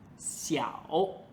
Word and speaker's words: 小: 要的基础字，它叫小。